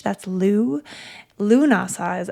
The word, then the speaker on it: Lughnasadh: Where does Lunasadh its name? Unlike, again, the other three fire festivals, there's a really clear bit of mythology around Lunasadh that gives this celebration its name.